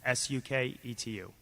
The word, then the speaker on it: Suketu: -sue ketu spell that for me. -su ke tu -suketu I think you've asked a very very important question.